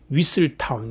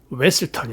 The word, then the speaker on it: Weselton: Weaseltown 이러니까 Weselton 이렇게 고쳐주죠. 발음이 틀렸다 그 뜻입니다.